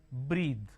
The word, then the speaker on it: breathe: bath the this Rhythm breathe so b r e a t h e is breathed b r e a t h is breadth breathe is a verb breath is noun okay